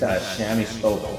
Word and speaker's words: Shami Stovall: Is it Shami Stovall, right? Yeah, that's exactly how you say it.